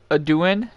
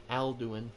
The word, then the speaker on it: Alduin: Is it it's pronounced Aduin? Alduin.